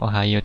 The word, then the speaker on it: おはよう: Ohayo gozaimasu, kadang ohayo dengan emot yang lucu-lucu, itu Jepang ya.